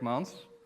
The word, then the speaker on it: Mans: good morning um ms trisha correctly pronounced my name is montz which is fairly easy for most american people um i work with